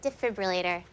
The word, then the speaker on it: defibrillator: careful with that defibrillator it is a defibrillator i watch er well according to the oxford english dictionary the proper pronunciation is debif relator actually it's defibrillator d e f i